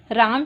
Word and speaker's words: रामः: इसका उच्चारण ह होता है। उदाहरण के लिए राम शब्द है, राम शब्द के पीछे ये विसर्ग लगे हुए हैं। जब हम इसका उच्चारण करेंगे तो इसे रामः बोला जाएगा।